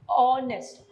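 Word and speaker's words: honest: तो ऑनेस्ट अब हालांकि यहां पर एच है जो कि एक कंसोनेंट है वोवेल नहीं है लेकिन फिर भी एच साइलेंट है तो जो पहली साउंड आ रही है वो ओ की आ रही है यानी कि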